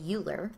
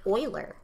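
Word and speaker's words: Euler: Mrs H gravy well everybody wants to say uler mhm but it's Oiler it's kind of weird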